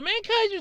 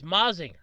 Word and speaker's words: Mazinger: it actually was so mankinder z uh i keep mispronouncing it it's meh it's mazinger so mazinger z wasn't the only